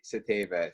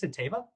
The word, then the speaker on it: Satava: But it's funny because the last name's actually Czech, and Satava is actually closer to the actual pronunciation than Satava is.